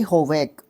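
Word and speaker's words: havoc: Play होवैक, हैवोक भी बोल देते हैं, होवैक भी बोल देते हैं। हैवोक मैं इसको यहाँ पे बोल रहा हूँ, प्रोनाउंस कर रहा हूँ।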